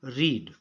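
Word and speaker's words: read: यहाँ पर सही ऑप्शन है ए, रीड। लेकिन ये second form of the verb है, उच्चारण हम रेड करते हैं।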